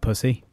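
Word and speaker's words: Psusy: I love Pussy. But it's not spelt pussy, it's just pronounced pussy.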